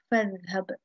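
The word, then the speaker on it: فاذهب: This Hamza is not pronounced when it is preceded by a letter. For example, over here we have fadhhab. Okay, over here I'm not pronouncing this Hamza.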